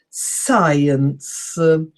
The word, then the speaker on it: science: science which is again SC I but it's pronounced differently science and scientific scientists are all the combinations science